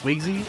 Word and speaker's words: Swignzy: tag yeah that's a very good name it's pronounced swizzy okay i'm gonna i'm gonna say so no